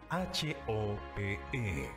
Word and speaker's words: Hope: Se escribe H-O-P-E, se pronuncia Hope, significa esperanza.